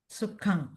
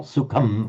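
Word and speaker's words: sukhaṃ: or suk sukang sukang. So you're both pronouncing with an aren't you? Yeah. You are putting your lips together. Not sukum but sukang suk.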